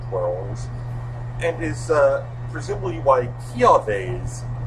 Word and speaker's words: Kiawe: and is presumably why Kiawe's, and I am now aware that that is the correct pronunciation, Marowak has a dancing trial.